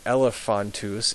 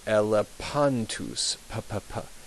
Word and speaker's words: elephantus: And then finally, the PH is like a P, as in put. It's never pronounced f, as it is in English, often. So instead of saying elephantus, it would be elepantus.